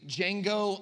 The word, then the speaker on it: Django: It makes us think of the movie Django Unchained. It reminds us of that wasn't supposed to be a joke, but we can laugh together. The D is silent.